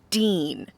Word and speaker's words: Deen: And then this guy is named Dean. Now it's spelled D-E-E-N, but still his name is Dean.